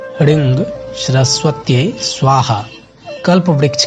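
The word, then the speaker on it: ह्रीं: कोशिश कीजिएगा कि श्रृंग में ग का उच्चारण ना हो और ह्रिंग में ग का उच्चारण ना हो, जिसे श्रृंग ह्रिंग सरस्वत्यै स्वाहा इस तरह से उच्चारण कीजिएगा तो ज़्यादा ये श्रेष्ठकर है।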